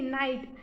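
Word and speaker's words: night: example है वो है एन आई जी हा टी नाइट इसमें भी जी और हा साइलेंट है और आईजीएसटी को हम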